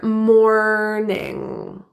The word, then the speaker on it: morning: tongue bunching back, and the final ing sound is pronounced with the back of the tongue, that nasal There's no hard G in INGs at the ends of words.